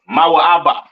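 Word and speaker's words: מואב: that are the enemies of Israel right that Moab or ma ABA all right which is your so-called Chinese people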